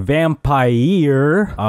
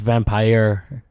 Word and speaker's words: Vampyr: me like that Arnold cuz you've pronounced it it wrong hi year it's vampire its vampire vampire okay so what